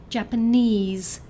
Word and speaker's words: Japanese: third syllable, like 'Mandarin' For example, 'Japanese' has a stress on the third syllable So it's like 'Mandarin'.